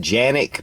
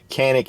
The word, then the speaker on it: Canik: quality and the price some people pronounce it janic but that's how they pronounce it in Turkey but here in the US canic is how we pronounce